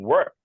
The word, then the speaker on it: worked: pick that's right T what about this will work past tense would be worked worked words the T very good what about enjoy would